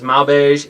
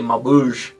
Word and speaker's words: Maubeuge: That's Saint-Étienne, and then the other one, you may have heard me pronounce it as Maubeuge. It's actually Maubeuge.